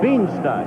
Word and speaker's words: Beanstalk: Beanstalk. Like Jack and the Beanstalk.